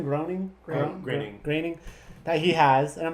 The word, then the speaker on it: Groening: Groening, that he has.